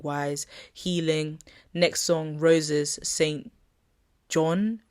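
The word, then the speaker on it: SAINt JHN: Next song, Roses St. John, but is spelled Jhn.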